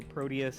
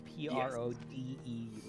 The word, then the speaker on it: Prodeus: And for those who are not familiar, Proteus is spelled not with a T but with a D. It's Prodeus.